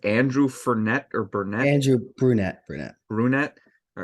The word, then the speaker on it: Brunette: name was it Andrew fernet or Burnett Andrew brunette brunette brunette all right I keep forgetting the pronunciation of his last name but I didn't